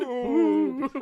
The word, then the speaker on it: Boop: Boop. And you have to say it like that because it has 3 That's right. O's.